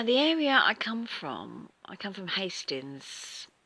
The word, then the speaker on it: Hastings: Or if you're a real southerner, you might go Hastings. But it is Hastings. I don't call it Hastings like some do. But, yeah, it's not meant to be a silent H at all.